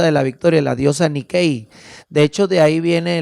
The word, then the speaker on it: Nike: Nike se escribe. Pero es haciendo referencia a esa diosa griega, la diosa de la victoria, Nikei.